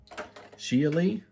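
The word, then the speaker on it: Xiali: i a l i i tried to google how to pronounce that for you guys lots of different uh speakers were pronouncing it differently but most of them tended to go with geely and so this is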